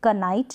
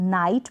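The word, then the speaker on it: knight: इसका प्रोनंसिएशन नहीं होगा जैसे क नाइट नहीं बोलेंगे इसको हम नाइट प्रोनाउंस करेंगे कनॉट नहीं बोलेंगे नॉट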